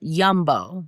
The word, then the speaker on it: Yumbo: I haven't had that since I was a kid, but I saw this thing, it's Old Wisconsin Yumbo, spelled like jumbo with a Y, Yumbo honey brown sugar turkey sausage stick.